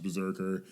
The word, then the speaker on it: BRZRKR: It's spelled differently in the two parts of this opening. Is it? Yeah. It's BRZRKR and then BRZKRK. Bizkirk? But the bottom one says Berserker? Berserker. I think it's Berserker.